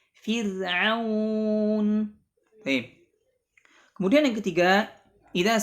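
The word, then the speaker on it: فرعون: Di sini contohnya adalah Fir'aun. Bukan dibaca fir, bukan, tapi fir, dibaca tipis. Fir'aun.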